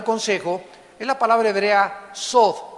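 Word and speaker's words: סוד: es la palabra hebrea sod, S de Samuel, O, D de Daniel, TH. La TH en hebreo se pronuncia como una D de Daniel, sod.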